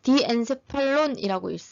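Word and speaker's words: diencephalon: 간뇌는 디엔세팔론이라고 읽습니다. 이라고 읽고, 이 간내는 중간내에서, 아이고야, 내에서 중자를 빼고 간편하게 말하기 위해서 간내라고 합니다.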